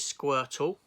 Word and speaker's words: Squirtle: His name is Squirtle. Rhymes with turtle.